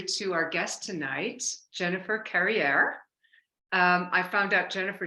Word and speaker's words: Carriere: your name is Jennifer carrier Jennifer so what did you say Jennifer rhymes with derriere I tell people that's